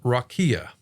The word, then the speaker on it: rakia: Now the Hebrew word for the firmament is rakia. It's pronounced up there just like in any other dictionary.